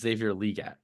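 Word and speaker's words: Xavier Legette: Question 1: do you guys care that it's actually pronounced Xavier Leggette? No. I kind of like it. Okay, well, yeah. See, there we go. In my head, he's Xavier Mingo. That's all. Xavier Mingo. Xavier Leggette can win you your league.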